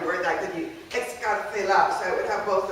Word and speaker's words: excarcelar: Excarcelar, so I would have both of them. And I put the theta in right there, because phonetically that's what you would have, excarcelar.